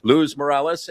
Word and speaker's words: Luz Morales: I was mispronouncing it before on her last time she was here, so I'm doing it right this time. Luz Morales.